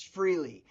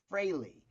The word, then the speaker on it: Frehley: New Jersey, everybody I knew said Ace Freely. Yeah. Ace Freely. But I learned, you know, especially working on the record. Ace corrected me a couple times. He go, "Steve, make sure you say my name right. It's Freley." You know, and that's it. Ace Freley.